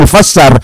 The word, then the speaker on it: mufassar: setelah ada tafsir itu namanya mufassir yang menafsiri sinnya dikasrah mufassir cara bacanya disesuaikan dengan mufassar sinnya di fathah mufassar berasal dari fassar yufasiru bareng-barengar yufir tafsaron tifsaron mufassaron fahua mufass mufassalun mufassalun begitu.